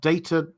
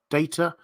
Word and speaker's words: Data: Pronounced Data, not Data.